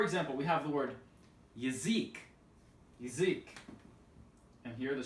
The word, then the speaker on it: язык: So, for example, we have the word yazik, yazik.